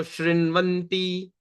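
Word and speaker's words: शृण्वन्ति: So how we can pronounce this? S-H-R-I-N. Shrin. So Shrinvanti, Gayanti, Grinnantya, Bhikshnasha.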